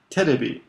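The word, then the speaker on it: テレビ: And then TV is pronounced terebi.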